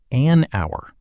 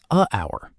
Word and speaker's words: hour: say a hour, but the h is silent. So the word begins with a vowel sound. That's why we say an hour, not a hour.